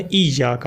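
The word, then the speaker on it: إِيَّاكَ: سکتی ہے، وہ ہے ایاک۔ اس کے ہجے کر لیں، حمزہ یا زیر ای، یا الف زبر یا، یا کاف زبر کا، ایاک۔ باقی الفاظ آسان ہیں،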